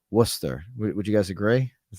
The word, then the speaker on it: Worcester: that if that's right some people would pronounce this a different way but I believe I'm pronouncing it correctly it is Worcester would you guys agree